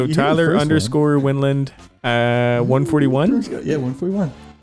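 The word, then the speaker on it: Wendlandt: The T and the D are silent. Wendland.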